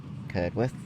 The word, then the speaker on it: Curdworth: You don't pronounce the W. Same for Bedworth, Bedworth, Curdworth. Anywhere with WRTH at the end.